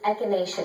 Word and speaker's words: echinacea: How do you pronounce this? Yeah, I don't know either. This is echinacea tea.